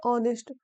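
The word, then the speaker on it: honest: लेकिन यहां पर ऑनेस्ट ऑनरेबल होता है। ऑनरेबल नहीं होता। आगे से आप सही प्रोनाउंस कीजिएगा। Honourable ऑनेस्ट आवर। ठीक? यह आपको याद रखना है। यहां एच का उच्चारण नहीं होता इसलिए एन का प्रयोग किया जाता है।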